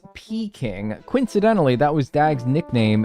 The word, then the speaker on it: Peking: Peking is pronounced like pecking.